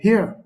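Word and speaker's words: hir: and H I R which is pronounced as here very interesting take a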